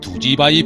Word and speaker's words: 두지바위: 여기는 위대한 수령님께서 신사동 인민들 속에서 정치 사업을 벌이시던 그 시각 어중읍 동지의 7년대가 진출했던 두지바위 부락입니다. 두지바위란 마을 산기슭에 솟아있는 쌀뒤주처럼 생긴 큰 바위 이름이었는데 이 고장에서는 뒤주를 두지로 발음했습니다.